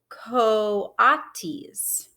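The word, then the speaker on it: coatis: pigs or raccoony dogs those are ko ati's mrs brisbane said reading from the letter pronounced ko atis the kawatis looked weird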